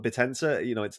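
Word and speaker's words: Bittensor: The guy who told me about Bitensor, he said stop saying bit, like I used to say it like dinosaur, so Bitensor. He said like call it Bitensor.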